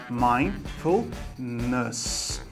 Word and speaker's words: mindfulness: Primeiro, ó, você vai falar mind, mind. E esse D é mudo. Os brasileiros às vezes falam mind, tá? Então, mind. Depois, full, com L, né? Mindfulness. Cuidado aqui para não falar ness, né? Mindfulness, é mindfulness. Legal?